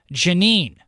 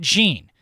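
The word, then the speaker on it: Jeanine: It's Janine, not Jean, and the last name is pronounced differently than you are saying it.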